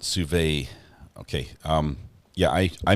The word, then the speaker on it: sous vide: Pronounced sous vide, not sous vide. Okay. Yeah, I mispronounce everything, but John, thank you for correcting that.